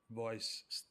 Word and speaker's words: Vois: Voice is pronounced like voice in English, like so it has to do with communication, let's say, but it means Voila simplification library.